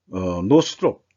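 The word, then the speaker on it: Northrop: 이제 뭐 세대째 만든다고 그러는데 노스롭 노스롭 노스롭이라고 발음해야 돼요.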